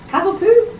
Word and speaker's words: Cavapoo: Since bringing home her adorable Cavapoo, that's how you pronounce it, right?